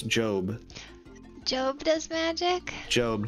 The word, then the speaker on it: GOB: It's Job. Job does magic? Job. G-O-B is how they spell it in the show. Because every time someone reads it, they go, gob?